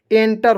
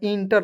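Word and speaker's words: enter: last तक देखना होगा एंटर होता है इंटर नहीं होता है ठीक है देखिए यहां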